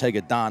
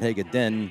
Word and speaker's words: Hagedon: His dad wants it pronounced Hagedon, not Hagedin, on the highlight reels on the local news stations.